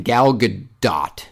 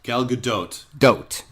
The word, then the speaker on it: Gal Gadot: I already forgot how you're supposed to pronounce her name. Gal Gadot. Gal Gadot.